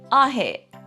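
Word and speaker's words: ahe': To say no, you would say ahe. Ahe. Again, with the glota symbol at the end of ahe, it's an abrupt stop.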